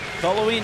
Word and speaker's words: Cullowhee: Can't pronounce Cullowhee. You're right. Yeah, we played there this year. That's why I knew that. Cullowhee, North Carolina.